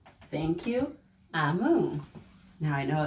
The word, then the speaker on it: Omu: So there's a page on the inside that says, Note to the reader, Omu, which we would say Omu, pronounced Amu, is the Igbo term for queen.